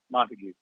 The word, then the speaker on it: Montague: Is that how he pronounces the first name? Montague? Yeah, Montague.